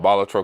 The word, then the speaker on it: Balatro: A lot of the guys that are kicking ass, the dude that did the Blatro or Balatro, I call it Balatro because that's how it's spelled.